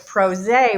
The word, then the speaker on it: PRosé: our show pros now it's pros a rhymes with rose because we're pr pros